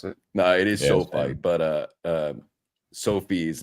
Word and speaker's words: SoFi: Yeah, I've never known the correct way to pronounce it. No, it is SoFi, but Sophie is like a girl's name.